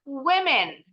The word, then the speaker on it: women: pendek hati-hati kalau perempuan cuma satu bacanya kalau bacanya Women Women sama-sama dulu yuk yang perempuan woman women